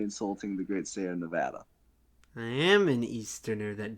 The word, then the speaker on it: Nevada: Donald Trump during 2016 coming to Nevada and saying Nevada and everyone tried to correct him and he just insisted it was Nevada and it was it was it was a spectacle